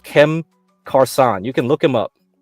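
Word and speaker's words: Cem Karsan: a Turkish guy called Kem ksan you can look him up okay and I think his name is mostly pronounced closer to jam croissant that's why his like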